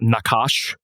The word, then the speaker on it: Nachash: But prior to that, we're going to do a band that I talked to recently called I believe it is pronounced Nakash, NACHASH.